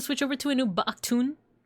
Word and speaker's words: Baktun: It's the change over to the new Baktun. Or sorry, I didn't pronounce it right. Baktun.